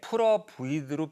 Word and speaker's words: put up with: p에서 넘어갈 때 put up with로 비읍으로 넘어가는 게 아니라 put up with로 프로 넘어가요. 예. Put up with. 아무리 빨리 해도 그렇게 발음해요. Put up with.